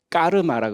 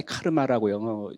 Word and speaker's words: 까르마: 5G 기술 우리가 업을 까르마라고 그러죠 영어로 표현할 때 카르마라고 영어권 사람들이 표현을 했었는데 원래 까르마가 맞는 말이죠 편하신대로 발음하면 될 것 같고 그래서 우리 디지털